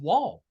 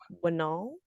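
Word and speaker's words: Wnall: Then they'd be like Winall. Winall. You probably get like, Winall. no, it's just Wall. The N silent. Sorry, the N is silent.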